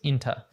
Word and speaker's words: into: And then finally, into, there's a schwa sound there in the second syllable, so it becomes inta.